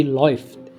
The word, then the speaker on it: läuft: Kalau A umlaut sama U itu jadi bacanya apa? Jadi OI. AU kalau ketemu, jadi A umlaut ketemu U dibaca jadi OI.